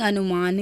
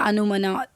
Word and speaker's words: अनुमान: दूसरे नंबर पर था आपका अनुमना, मीनिंग अनुमान या अनुमना, स्पेलिंग से अनुमना लगता है, अनुमान होता है वैसे हिंदी में।